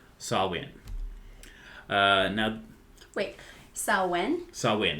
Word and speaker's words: Samhain: to start off by talking about samhain or to pronounce it more correctly sawwin uh now wait sauwen